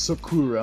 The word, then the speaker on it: Sakura: Well, I pronounce Sakura, I'm ghetto, but Sakura, yeah.